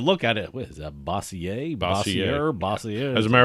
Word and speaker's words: Bossier: I think I called I have to go on to YouTube just any video to see the pronunciation of certain words and that's how it's bossier's Bossier City Bossier City although we could have